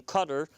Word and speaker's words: Qatar: But after this was over, just in the papers the other day, you saw discussion of a flurry of activity involving Qatar, normally mispronounced as Qatar.